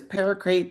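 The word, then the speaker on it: paraquat: Like, how do you, is it paracrate? And it's paracrate.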